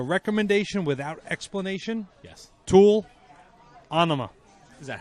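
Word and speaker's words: Ænima: Tool, anima. Is that how you Enema. pronounce it? I pronounce it anima. Because enema is pronounced differently.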